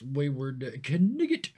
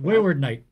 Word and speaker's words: Wayward Knight: Let us move along then to the mighty and the wondrous Wayward Knigget. Sorry, I pronounced it phonetically. Yeah, Wayward Knight.